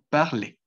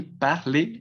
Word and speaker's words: parle: Simplemente van a decir parle. Sí, parle, la A, así como hace rato, hace un momentico les estaba comentando cómo se pronunciaba la A. Sí, la A, eh, pues es una A abierta, muy parecida a la A española, a la A de nuestro idioma. Sí, entonces yo diría par, sí, normal, parle, parle, parle, parle.